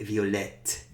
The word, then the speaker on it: violette: And then violet, violette. We pronounce that T when we put the E afterwards.